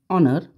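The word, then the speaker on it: honour: Next है choose the correct alternatives, आपको बताना है the alphabet which comes after you we, which letter is silent in the word ऑनर H, which letter will make meaningful word right.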